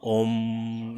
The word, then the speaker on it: Om: The syllable Om is generally emphatic and more or less prolonged so that the final vibrates.